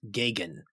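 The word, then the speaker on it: Geoghegan: your last name and he said it's pronounced gagan like Reagan like Reagan right and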